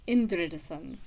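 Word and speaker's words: Indriðason: I think that's where the accent goes. Indridason.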